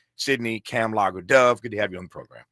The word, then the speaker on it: Kamlager: Uh Cam as in camel logger like beer. Sydney cam logger dove.